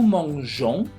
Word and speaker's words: mangeons: Entonces por eso es, si gustan repetir, es je mange, tu manges, il, elle mange, nous mangeons, vous mangez, il, elle mange.